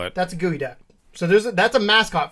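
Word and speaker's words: geoduck: please use your phone to look up was gooey duck yeah it's spelled g e o du u c k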